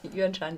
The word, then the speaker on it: Yuanshan: As I said, Kavalan comes from Taiwan, the Yuanshan region. Did I pronounce it right? Yuanshan, yeah.